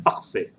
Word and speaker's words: parfait: देखिए आप अभी parfait बोले कोई, no issues. आप जो है दिमाग में रखना है. ये प्रोनाउंसिएशन को दिमाग में रखना है. अगर हम कल को हम ये प्रोनाउंसिएशन के बगैर भी पढ़ते हैं तो देन आपके दिमाग से खुद ब खुद निकलना है पखफे, पखफे.